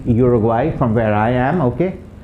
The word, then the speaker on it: Uruguay: go to the u the u has an u sound in spanish okay ooh as in ubus are grapes the country uruguay from where i am